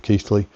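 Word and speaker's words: Keighley: See, I've got the pronunciation right. At last, Mitchell of Keefley.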